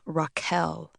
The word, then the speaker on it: Rachel: Rachel, only she pronounced her name Raquel.